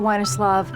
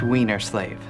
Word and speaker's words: Weinerslove: perfect case in point excuse me mr weinerslove it's pronounced weiner slave okay jeffrey is there